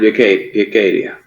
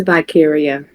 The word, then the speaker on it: Vicaria: And Yacadia. How do you say that? It's Vicaria.